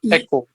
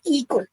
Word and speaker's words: echo: That is the pronunciation of echo. So we say Echo. it is echo. It is not eco.